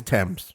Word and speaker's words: Thames: it's something upon tim's is there an s on it yes okay so it's tim's but we're in mid-summer